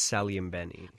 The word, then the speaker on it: Saglimbeni: correct you on the pronunciation of my last name it's s and Benny oh I'm okay I